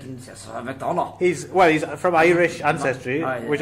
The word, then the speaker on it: McDonagh: Is that how you pronounce that? McDonagh? McDonagh. You McDonagh. can just say it normally. Well, I feel like you have to say it with the Oh, really? with the Scottish accent.